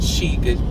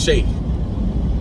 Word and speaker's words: sheikh: grand sheik she and that is not sheik sheikh is shake right learn how to